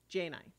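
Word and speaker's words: Djaynai: a i uh oh I'm saying it wrong jainai Jane I is the is the pronunciation j9 and let me open the guess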